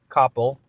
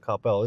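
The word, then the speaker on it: Coppell: Like most people in Dallas call it CPel. Okay. But people from Copel call it Copel.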